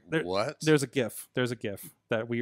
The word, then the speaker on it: GIF: I go GIF. I don't care. Okay. If that's politically incorrect. Okay. I'm going with GIF. I like the hard G.